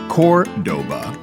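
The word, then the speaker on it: Córdoba: Named after a city in Spain that's pronounced Cordoba.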